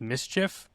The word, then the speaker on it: MSCHF: There's a company, I believe it's supposed to be pronounced Mischief. It's Yes. MSCHF.